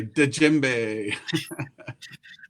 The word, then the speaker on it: djembe: I pronounce the D. I don't think it's supposed to. I say djembe.